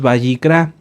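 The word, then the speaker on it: ויקרא: levit Amén muy bien el libro lo hemos conocido como levítico pero lo correcto es bicra ahorita les digo Qué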